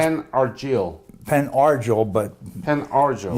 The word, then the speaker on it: Penn Argyl: Penn Argyl, capital P-E-N, capital A-R-G-Y-L. A-R-G-Y-L. L. Pronounced Penn Argyl. Penn Argyl, but Penn Argyl. yeah, some people pronounce it Penn Argyle, which they think of the Argyle socks, if you're familiar with